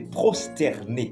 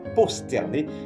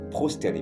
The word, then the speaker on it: prosterné: problème et puis tout donc c'est prosterné c'est pas posterné mais c'est prsterné puis attir attention également